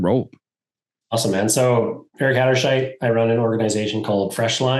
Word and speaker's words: Hatterscheidt: Hatterscheidt.